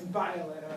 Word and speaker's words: Violeta: I always tell people, if you ignore the I in my name, it's actually really easy to pronounce. So V, just like the letter V, Oleta, much easier than Violeta, which most people think.